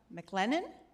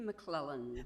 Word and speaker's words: McClellan: Our next speaker is McLennan. Am I pronouncing that correctly, Ms. McLennan? No, it should be McClellan. McClellan? With two L's.